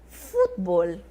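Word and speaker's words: fútbol: eu tenho diplomacia diplomacia o futebol do português no espanhol se transforma futbol tá bom futbol então não se esqueçam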